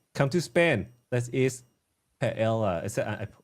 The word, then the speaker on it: paella: Let's eat paella. Is that I pronounced it right?